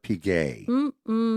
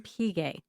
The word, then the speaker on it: Piguet: Collab between Swatch and, I hope I pronounce this right, Audemars Piguet. Piguet. Piguet, not Piguet, but Piguet.